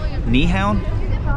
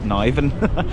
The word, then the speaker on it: Nyhavn: We think it's Nyhavn. Like, to us looking at it, it might just read as like Niven, but I think it's Nyhavn.